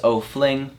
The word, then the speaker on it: O'Flyng: Follow me on my YouTube and my Instagram, at O'Fling. O'Fling is spelled O-F-L-Y-N-G. It's a little bit weird. There's no I in that.